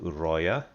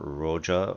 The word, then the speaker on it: Uroya: However, the other continent is called Uroya, or Uroja, or there's a number of different pronunciations, obviously, but Uroja, you could basically pronounce it however you want.